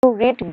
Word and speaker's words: read: তাহলে have you রিড গলিভার্স travels, তাহলে এটা আছে প্রেজেন্ট পারফেক্ট টেন্সে। কি দেখে বুঝলাম? হ্যাভ আছে, রিড আছে, এটা রিড নয়, উচ্চারণটা অ্যাকচুয়ালি রেড হওয়া উচিত। Question number 18.